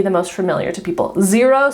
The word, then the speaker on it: Xero: Xero, spelled with an X, is another, like probably the second most common one.